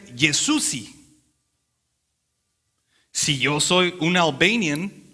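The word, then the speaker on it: Jezusi: En Albanian se pronuncia Yesusi.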